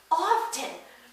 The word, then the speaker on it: often: us who you know appreciate the silent tea um their family was making fun of the family across the street and they're like they say often with the tea and like you know